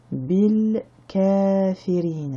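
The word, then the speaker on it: بِالْكَافِرِينَ: de la kasra et on arrive à la fin de la ayat, donc on ne prononcera pas la dernière harakat qui est la lettre alif, ça nous donnera bil kafirin.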